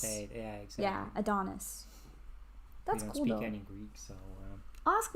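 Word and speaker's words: Antonis: o n i s it's spelled like anthonis but you say it like adonis yeah exactly yeah adonis that's cool any greeks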